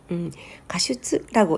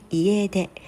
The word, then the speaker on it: 家出: 가출이라는 단어를 일본어로 했을 때 가슈츠라고 읽는 줄 알았대요. 근데 그게 이해대 って言いますよね。 집을 나간다 이해대 ですがそ